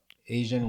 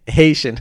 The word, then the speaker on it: Haitian: So do you think Asian wedding? I think I said that right. Haitian.